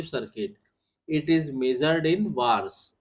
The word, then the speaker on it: VARS: इट is measured in वार्स, ये इसको pronunciate करते हैं वार्स, VARS।